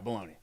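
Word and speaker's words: bologna: it's good balone yeah baloney yeah but it's spelled like balona house red beat pickled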